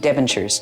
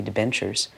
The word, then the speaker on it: debentures: quality and du in debentures now that's mispronounced completely I didn't know how to pronounce it it's supposed to be debentures and I put it